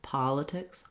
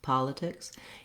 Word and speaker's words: politics: Politics, politics, and not having any kind of E-like sound for these letter I's. Definitely a reduced I or in those. Letter S in politics says the S sound. It's after a voiceless consonant, so politics.